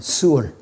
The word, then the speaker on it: 스올: 자, 그런데 이 지옥은 구약에서는 스올이라고 발음해요. 스올.